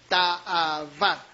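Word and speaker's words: תַּאֲוָה: Ahora, esta palabra, agradable, en el hebreo es ta'avá, con doble A, B chica y acento en la A al final, ta'avá, que significa, fíjense, deleite, atracción, anhelo, satisfacción.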